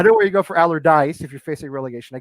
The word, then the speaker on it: Allardyce: I know why you go for Haller if you're facing relegate. I'm sorry, Allardyce. I just left out the last syllable. I know where you go for Allardyce if you're facing relegation.